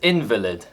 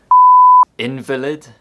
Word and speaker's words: invalid: There are many other heteronyms which differ only by the position of the word stress, and they can easily cause confusion.